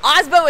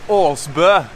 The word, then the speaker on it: Aasbø: Aasbø is not how you say his name. The real name is Aasbø.